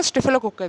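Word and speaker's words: staphylococci: स्ट्रेप्टोकोक्काई bacteria, स्टेफिलोकोक्काई bacteria, उच्चारण exactly pronunciation होगा स्टेफिलोकोक्काई bacteria, ठीक है, उनके ऊपर ये काम कर रहे थे।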